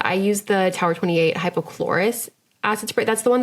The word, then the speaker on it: hypochlorous: use the Tower 28 hypochlorous acid spray. That's the one that's just a little refresh and it kills all the bacteria on your face. Okay, yeah. So it's hyperchlorous. I'm saying it wrong.